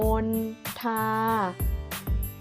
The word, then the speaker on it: มณฑา: เช่น มณฑล พิธี ค่ะ คุณ ค่า อ่าน ว่า มณฑา หมาย ถึง ชื่อ ไม้ พุ่ม ชนิด หนึ่ง ใบ